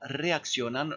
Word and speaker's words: reaccionan: Faites attention aussi à reaccionan. Vous ne me le prononcez pas à l'anglaise, et d'un, et faites attention à l'orthographe de deux. Vous répétez après moi. Como reaccionan los colegas?